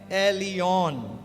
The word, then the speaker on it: Elyon: ई एल वाई ओ एन जिसको pronounce करते हैं एलियन या एलियन एल एलियन